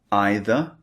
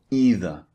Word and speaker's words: either: hear native speakers using you can say neither or neither these are the two alternatives and you can say either or either slightly different these are the alternative pronunciations just to let you